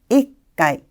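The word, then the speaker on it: 一回: 이때 바로 이츠라는 음독이 사용되게 되고 뒤에 카라는 글자의 발음과 부딪히는 현상 때문에 발음을 조금 편하게 해줄 수 없을까? 즉 음편 현상을 이루게 됩니다. 따라서 이츠의 츠라는 글자가 초금으로 살짝 바뀌고 있네요.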